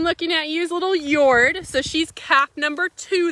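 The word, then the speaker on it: Jord: look at musk ox out here, is as Yord does. So for an idea how you spell it, it's J-O-R-D.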